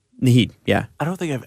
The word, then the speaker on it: Naheed: Now, is that how you pronounce his first name? Naheed, yeah.